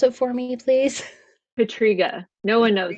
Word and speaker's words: Pietryga: how to say your last name could you pronounce it for me please Patrica no one knows it's okay I love that